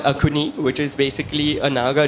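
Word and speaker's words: Axone: Hi, so it's called Akuni, which is basically a Naga dish.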